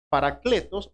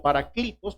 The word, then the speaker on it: paracletos: Es la misma palabra, paracletos o paraclitos, como usted lo quiera pronunciar.